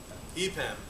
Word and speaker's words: EPAM: And after that, two fine fellows from, do you pronounce it EPAM or EPAM? EPAM, okay, are going to be speaking about some